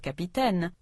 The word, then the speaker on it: capitaine: So, when French speakers say the word capitaine, they stress all three syllables equally. Capitaine. But, when English speakers appropriated this word, they pronounced it in their own way, stressing the first syllable so much that the second syllable disappeared altogether.